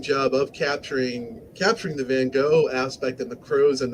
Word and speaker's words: Van Gogh: reading the story was how to pronounce van gogh and then goes the american pronunciation the british pronounced his name van gogh but in the original dutch jeez are silent so it's more like van hall but i think if